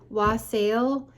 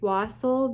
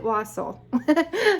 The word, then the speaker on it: wassail: i did wassel and everybody pronounces this you guys was sale and i'm pretty sure it's pronounced wassel because there's a christmas song that says here we